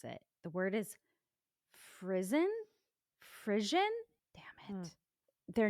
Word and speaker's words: frisson: Frisson. Okay, so Oh. apparently you pronounce it frisson, but what is the bastard American English version? Hold on. Phrasing. Right. Frisson. Frisson is what apparently Merriam-Webster is telling me.